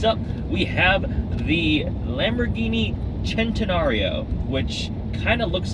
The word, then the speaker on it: Centenario: Next up, we have the Lamborghini Centenario, which kind of looks like Centenario. It looks like Centenario, but leave it to the Italians for one C being pronounced like a CH.